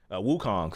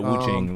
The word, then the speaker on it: Wukong: Wukong. Thank you. I did. Yeah. Yeah. Wukong. Yeah, you said that. You said it right. No, I said Wuing.